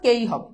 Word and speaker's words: কে: নিয়মটা আসতেছে very good তাহলে কে এর উচ্চারণ কেই এর উচ্চারণ কি হবে? কেই হবে।